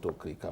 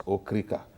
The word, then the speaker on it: Okrika: We call it, a lot of us pronounce it Okrika, but it's Okrika.